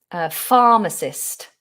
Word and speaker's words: pharmacist: I've also been asked about pharmacist. Pharmacist. A lot of words, in fact, all words that begin with PH is pronounced with an F.